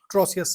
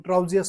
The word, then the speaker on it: Trousseau: Next है आपका ट्रोसियस sign, TROUSSEAUS, ट्रोसियस sign, ट्राउजियस sign, जो आपको प्रोनाउंस करना है, स्पेलिंग मैंने बता दी।